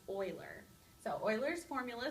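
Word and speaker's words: Euler: or vertices or edges it looks like uler but it's pronounced Oiler so oil's formula says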